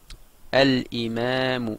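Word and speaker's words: الإمام: est compliqué donc le le Hamza c'est bien une lettre lunaire et le l se prononce donc ça va donner imam et on perd le tanwiine al Imam ça veut dire l'imam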